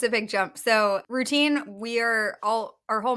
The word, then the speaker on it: Rootine: company name and the concept of routine it's spelled r o o t i n e it's one we want